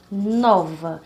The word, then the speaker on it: nova: A palavra nova, nova. Então, a sílaba nó, né, é a mais forte.